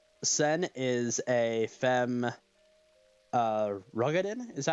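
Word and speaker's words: Roegadyn: I I think so they actually finally did pronounce that in uh towards the end of end Walker and it's ruged in rugen okay interesting like I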